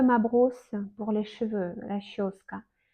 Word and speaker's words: расческа: Расческа. Encore, on prononce расческа.